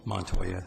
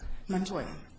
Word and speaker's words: Montoya: Montoya welcome to Palm Beach County and pronounce that last name again Montoya Montoya okay um thank you for submitting your name